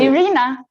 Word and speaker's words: Iryna: to go follow along, it's spelled Iryna. So again, I pronounce that Iryna.